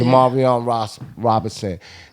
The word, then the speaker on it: Jamarion Robinson: And your shirt says Jamarion Robinson. Right. Am I pronouncing that right? Yep, that's how you say Jamarion Robinson.